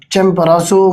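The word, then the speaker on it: Chimborazo: जिसके बारे में कमीशन पूछ लेता है अक्सर चमबरासो स्पेलिंग मेरे पास यहां नजर नहीं आ रहे हैं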